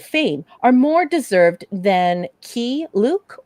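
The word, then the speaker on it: Keye Luke: are more deserved than key luke or is it k-k-u i think he was always pronounced key luke he's a well pretty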